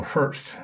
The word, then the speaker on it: Herbst: The original name was Terrible Herbst. The B is silent. It was started by a man by the name of Ed Herbst, who started the Martin Oil Company in Chicago in 1938.